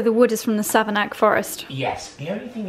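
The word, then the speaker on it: Savernake: From Savanaki.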